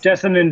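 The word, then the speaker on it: Jessamyn: Jessamine Duke. Jessamine Duke, excuse me for butchering their name.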